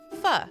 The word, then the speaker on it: pho: And I really like fu, which is spelled pho.